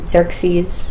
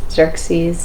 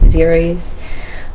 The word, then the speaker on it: Xerxes: Doesn't matter too much, but Zer Xerxes, Xerxes, Xeris.